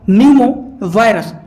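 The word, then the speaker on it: pneumovirus: मतलब होता है मेटा पी साइलेंट होता है इसमें तो यह होता है न्यूमो वायरस तो ह्यूमन मेटा न्यूमो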